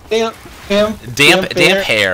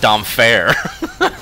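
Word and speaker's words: Damphair: it was, damp hair. I had always. I mean, I've been reading those books since I was like 20. I always pronounce it damp fair. Hair, man! Hair and damp hair.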